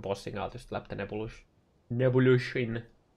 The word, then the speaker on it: Nebuloch: And then when I'm doing delves or any kind of bossing, I'll just slap the Nebulush in. How do you pronounce this? Nebuloch.